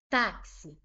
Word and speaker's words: táxi: Vou ver qual é a sílaba tônica. Táxi. Táxi, tá? É a sílaba tônica. Penúltima, ela é uma palavra paroxítona. E ela é uma paroxítona que terminou em i.